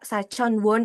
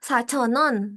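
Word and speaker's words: 사천 원: Kadang kalau kita bacanya bener-bener nih kayak sachon won iyeyo. Cuma kalau dalam penyebutannya biasanya sachonon, sachonon iyeyo gitu.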